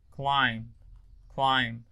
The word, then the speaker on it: climb: Okay, so the R and L: red, lead, wreck, lick, river, liver, reef, leaf, crime, climb. ال B silent على فكرة.